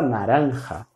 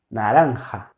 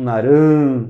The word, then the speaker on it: naranja: Naranja. Naranja. No narã. Naran. Isso seria português. Naranja. E o J, esse som de um R aspirado.